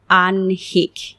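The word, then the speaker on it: আহ্নিক: যদিও এটির বানানে হ প্লাস ন অর্থাৎ হ আগে উচ্চারিত হবার কথা ছিল। কিন্তু উচ্চারণ করতে গিয়ে দেখা যায় এটির উচ্চারণ হলো আনহিক। নটি আগে চলে আসছে। তাহলে এর সঠিক উচ্চারণ হল আনহিক। আনহিক। অর্থাৎ দৈনন্দিন বা প্রাত্যহিক জীবনের যে বিষয়টি সেটিকে আমরা আনহিক বলছি। সঠিক উচ্চারণ আনহিক।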